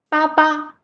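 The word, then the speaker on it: 八八: Nowadays, some young people will use Baba to replace bye bye because they sound similar, right? You can try to pronounce Baba, Baba, bye bye.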